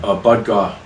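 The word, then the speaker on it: Bud Gaugh: original member from Sublime, Brad, how do you pronounce his name? Bud Gaw.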